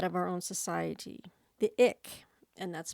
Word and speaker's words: Ik: many ways that of our own society the ick and that's spelled ik are a small group of hunters